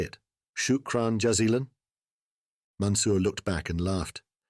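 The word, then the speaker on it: شكرا جزيلا: Shukran jazilan?" Mansur looked back and laughed. "Yes, John, correct. Shukran jazilan.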